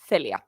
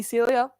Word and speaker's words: Celia: So, in Spanish, we have the S sound. Uh, it's not a lisp. It's just the way that the C was meant to be pronounced. So, it's Theelia. My friends, my American friends call me Celia because that's that's the